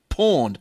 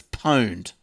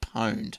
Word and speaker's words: pwned: of three that's right just a correction on porned it's a new word for owned and pronounced the sameed just like porn to own